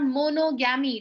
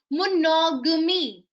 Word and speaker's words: monogamy: It's not monogami. It is called monogamy.